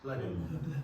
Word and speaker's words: Blenheim: Blenheim.